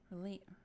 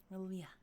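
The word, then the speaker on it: R'lyeh: Relia. There we go. Relia. Gotta kind of roll the tongue there. Relia.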